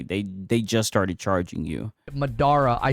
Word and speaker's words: Madara: Madara. I say the name wrong. All you weebs cry. Madara. Yeah, it's Madara.